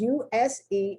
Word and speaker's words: use: The S sounds like a Z.